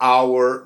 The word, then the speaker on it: hour: A palavra hour não tem, o H é mudo, mas a palavra hotel é aspirado, tem um som meio R.